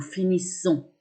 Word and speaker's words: finissons: Nous finissons, vous finissez, ils finissent. Notez bien que quand il y a un double S, on prononce S. Donc pas Z, mais S. Finissons, finissez, finissent.